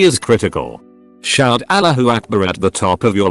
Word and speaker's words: Allahu Akbar: It's not pronounced like all, but closer to al.